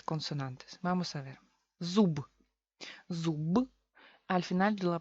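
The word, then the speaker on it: зуб: Al final se queda, en vez de b, se queda p.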